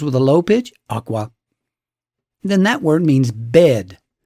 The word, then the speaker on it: akwa: If the first syllable is high and the second syllable is low, akwa, the word means cloth. But if you reverse the pitches, low in the first syllable and high in the second, akwa, the exact same word suddenly now means egg.